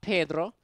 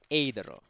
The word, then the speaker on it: Adero: Not Pedro, but Adero.